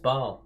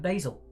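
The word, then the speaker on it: Basel: gua olds here no it's actually pronounced baal i'm going to call it basil to get even worse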